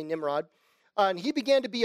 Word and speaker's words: Nimrod: 8 cush begat nimrod the name is pronounced nimrod in hebrew well to say nimrod and he began to